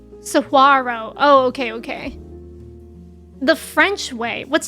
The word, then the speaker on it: saguaro: So it's pronounced saguaro.